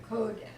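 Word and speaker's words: קודש: I said it was where's the accent in that second word yes kodesh kodesh there you got it uh it's a holy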